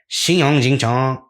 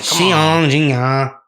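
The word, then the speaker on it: Xiong Jingnan: Xiong Jingchang. Wait, I said that one wrong. My bad. You said it wrong. Come Xiong Jingya.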